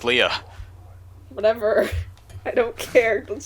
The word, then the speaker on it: Leia: Can we bring this back to Leia? No. Please? Do you even know Leia? yeah, Yes. she's If you did, you know it's pronounced Leah.